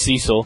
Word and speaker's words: Cecil: and there's that's Cecil who they say is cesil but that's stupid it's Cecil that's how britz pronounce it it's Cecil sorry oh